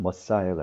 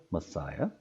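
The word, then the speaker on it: Messiah: 영어 발음은 머사이어가 되겠죠. 머사이어.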